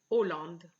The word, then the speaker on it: Hollande: country holland for example you would just say hollande you will not pronounce the h e so this one